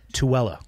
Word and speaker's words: Tooele: We did a bunch of stuff out in Tooele. I believe is the correct way to say it.